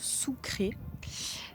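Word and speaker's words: Sucre: Donc nous arrivons maintenant à Sucré qu'on prononce Sucré.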